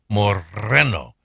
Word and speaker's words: moreno: By the way, she said brown is when you say brown eyes, moreno, where you roll your R's.